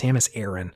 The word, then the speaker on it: Samus Aran: although it's pronounced I in in game it's pronounced Samus Aaron and that's really tough for me I've been